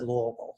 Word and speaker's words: Louisville: in kentucky right outside of louisville i said louisville that's how you pronounce it um i went to high school